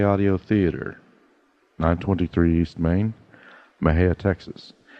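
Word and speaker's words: Mexia: theater 923 East Main Maha Texas Maha is spelled m XI a the zip 7666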